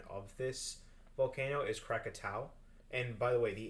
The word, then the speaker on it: Krakatau: pronunciation which is the quick uh the correct pronunciation of this volcano is krakatau and by the way the 1883 eruption of